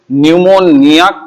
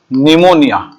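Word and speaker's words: pneumonia: तो सही शब्दावली तो इसे न्यूमोनिया कहा जाता है, लेकिन इसी को अपभ्रंश के रूप में हम लिख देते हैं निमोनिया। और अगर इसे अंग्रेजी में लिखे तो इसमें पी साइलेंट होता है, ऐसे लिखा जाता है न्यूमोनिया।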